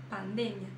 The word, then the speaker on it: pandemia: para aquela palavra mas quando vai pronunciar em espanhol pronuncia diferente porque ocorre uma mudança na sílaba tônica Ou seja a sílaba tônica em português é uma e a sílaba tônica em espanhol é outra ocorre essa mudança como pandemia em português em espanhol pandemia Tá então vamos lá